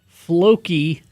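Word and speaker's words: Flóki: Eric in Purgatory says, "I highly highly recommend Faky single malt whiskey from Iceland.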